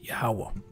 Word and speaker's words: Yahwah: the yada and then I have the proper pronunciation of the most size name which is yahwah uh Lord's will this will be an edifying